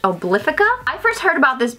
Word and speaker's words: Obliphica: I believe this is pronounced Obliphica.